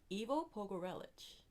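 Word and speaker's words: Ivo Pogorelić: Well, um, I know how to pronounce his name. Evo Pogreelich.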